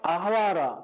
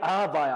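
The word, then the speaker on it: אהוא: 왜 레위 사람이 모여라고 했는데 모이지 않았냐면 이 강가가 뭐냐면 아하와라. 발음도 어려워. 아하와라. 정확하게 아하바야. 아하바. 히브리어로 배가 베트가 아니라 바부. 아하바인데 아하바.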